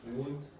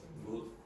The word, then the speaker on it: would: Now, to pronounce this, you do not pronounce the L.